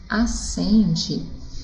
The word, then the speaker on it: acende: Porque quando nós pronunciamos acende, né, nós não pronunciamos o som do S, né, neste caso, e nem o som do N. Tá? Nós não conseguimos identificar estes sons na palavra.